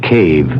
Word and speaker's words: cave: For myself, I equate cave with the Latin word spelled the same way, C-A-V-E, but pronounced cave.